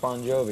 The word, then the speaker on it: Bon Jovi: bonjour no it's pronounced bon jovi it's just the the phonetics in italian the gi is a j sound right so you're off